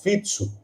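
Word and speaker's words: Fico: entender o seguinte o Robert fitsu né inclusive é dessa forma que se pronuncia o c ele tem esse tem essa pronúncia na na língua eslovaca né Robert fitsu ele é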